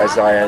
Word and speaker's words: Isaiah: Isaiah. Right. Or Isaiah, as the Brits say.